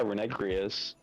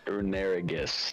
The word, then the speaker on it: Runerigus: Oh yeah, Runegrius. Runegrius? Lunarigus. Runerigus. There you go. English Pokemon pronunciation 101.